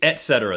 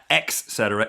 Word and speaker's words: et cetera: I say etc. It's et cetera. There's no X. It's et cetera. It's not ex cetera.